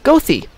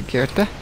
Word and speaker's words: Goethe: But then again, we have a street spelled Goethe, which is in Chicago, Goethe. As opposed to Goethe. And Desplaines is pronounced Desplaines instead of Desplan.